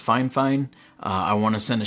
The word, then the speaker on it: Fifine: shout out out to i believe they said it's pronounced fine fine i want to send